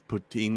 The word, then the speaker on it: poutine: you know we're an English-speaking country, so it's poutine in English. Yeah, it's just the Potanian. spelling. I think It- we pronounce our not even a spelling a lot.